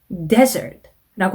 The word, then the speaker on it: desert: 사막이라는 단어 있죠? 이 단어도 시험에 가끔 나온답니다. desert라고 하는데요. desert, 이 나오면 이거를 dessert라고 잘못 읽으시는 분들이 꽤나 많아요.